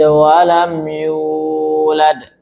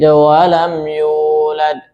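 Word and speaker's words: ولم يولد: Lam yalid walam yulad. Kepanjangan, ya. Harusnya dua harakat saja ya. Lam yalid walam yulad.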